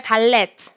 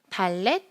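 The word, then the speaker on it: דלת: 다음 글자는 따라해 볼까요 달렛 발렛 한 번 더 달렛 달래 맞죠네 달넷 달렛은 발음은 두입니다 드 발음은 숫자 값은 4겠죠 이미지는 뭐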